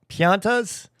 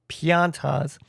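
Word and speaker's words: Pianta: Now, pianas, I think I'm mispronouncing that. I just called them piñatas because the word looks like piñata. Uh, but they're pontas.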